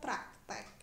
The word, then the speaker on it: praktik: praktek itu kata bakunya ditulis menggunakan i-pro aktif ya Tapi bacanya tetap praktek yang tidak baku hai